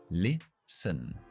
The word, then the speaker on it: listen: Empezamos con la I y terminamos con la schwa. Listen.